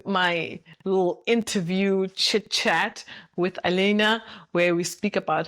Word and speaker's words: Alina: My special guest is Alina. Alina, how do you do you pronounce the same name? Alena South Africa say Alina.